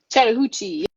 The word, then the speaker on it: Chattahoochee: Chattahoochee, yes.